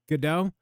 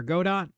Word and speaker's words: Godot: I would say third is probably Godot or Godot. Depends on how you pronounce that.